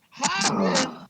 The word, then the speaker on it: Hagen: You see, it's Hagen, Hagen. You see how I'm hawing when I do it?